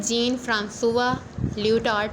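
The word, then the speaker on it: Jean-François Lyotard: तो first of ऑल जो हम लोग जिस थ्योरिस्ट को डिस्कस करेंगे वो है जीन फ्रांसुआ लियोटार्ड। इसकी करेक्ट प्रोनाउंसिएशन यही है, और इनका एक पर्टिकुलर वर्क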